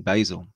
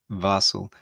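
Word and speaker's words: Basel: in basil it's uh i'm probably not saying that right at all it's b-a-s-e-l barcelo basil barcel yeah it is also where how do you say it you said it right the last time vassel and whereabouts is vassal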